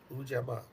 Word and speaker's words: Ujamaa: Ujama. Sounds like Ujima, but it's Yeah, remember I got confused with that last yeah, time.